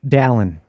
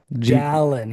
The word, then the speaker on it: Dallyn: How do I pronounce her last name? Dallyn. Dallyn.